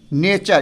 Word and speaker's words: nature: होगा, URE आए, तो हम टी का उच्चारण क्या करेंगे, च करेंगे, ठीक है, च करेंगे टी का उच्चारण। जैसे में देख लीजिए NATURE नेचर, इसको क्या पढ़ते हैं हम, नेचर, च पढ़ते हैं, TURE, तो इसको हम लोग क्या पढ़ेंगे, नेचर।